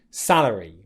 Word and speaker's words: salary: Salary. For wages, stress again on the first syllable, wage.